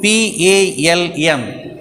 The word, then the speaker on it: palm: I already told you P-A-L-M, but we have to pronounce it as palm.